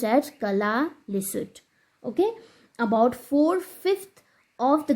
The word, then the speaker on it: Kalaallisut: It is pronounced as Kalaallisut.